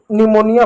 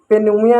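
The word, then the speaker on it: pneumonia: इसको निमोनिया पढ़ते हैं। निमोनिया पढ़ते हैं। पेनमोनिया नहीं पढ़ते हैं।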